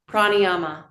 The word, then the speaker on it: Prāṇāyāma: Pranayama.